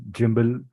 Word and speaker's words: gimbal: cameras that are stable gimbal gimbal both ways are allowed for pronunciation you can say gimbal also you can say jumble also okay spelling Remains the Same gimbal rings jumbo Rings